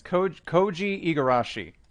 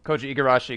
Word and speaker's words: Koji Igarashi: upside down, it's I always forget how to pronounce his first name. It's Koji Igarashi is the designer for this game.